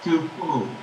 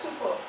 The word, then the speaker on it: Tupou: Yes, that's the correct pronunciation. Tupou? Oh, yay. Glad. Tupou.